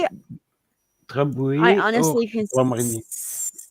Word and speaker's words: Grand Marnier: Grand Marnier. Yeah, there you Grand, go. that is the French. How you pronounce it?